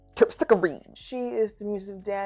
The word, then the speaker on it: Terpsichore: As you can tell, that is my favorite one, just because of the way that the name is pronounced. Terpsichore.